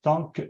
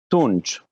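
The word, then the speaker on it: Tunç: Tunch, T-U-N-C. Oh, Tunch, oh mon Dieu, j'étais loin de la bonne prononciation, je m'excuse.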